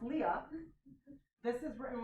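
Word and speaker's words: Lia: It's like L-I-A is written L-I-A, but pronounced Leah.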